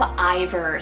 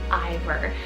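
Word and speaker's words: Iver: Then I have Ivor, spelled I-V-E-R for the boy side, Ivor.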